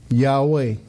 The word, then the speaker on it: Yahweh: in Hebrew y ver that we would pronounce Yahweh so it was Yahweh